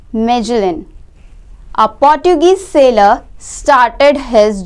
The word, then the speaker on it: Magellan: Around 500 years ago, Ferdinand Magellan, pronounced Magellan, a Portuguese sailor, started his journey from Spain to study the shape of the earth.